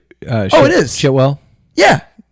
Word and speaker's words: Chiwetel: Chitwell. Yeah. How do you say his name? No. Chiwetel.